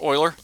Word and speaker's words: Euler: in here somewhere there it is there's the Euler filter now it looks like Euler it's pronounced Euler this will actually look for extreme differences in